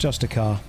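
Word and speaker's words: Justicar: yeah she's a justia I know it's pronounced justic car but once we've had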